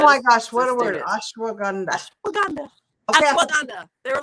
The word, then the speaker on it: ashwagandha: Ashwagandha, like Wakanda forever.